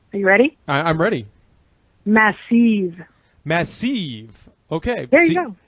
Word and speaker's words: MASSIV: You have to learn how to say it in German. Are you ready? I'm ready. MASSIV.